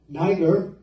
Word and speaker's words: Niger: your Bible it says Simeon was called neither that's the pronunciation I got when I listened to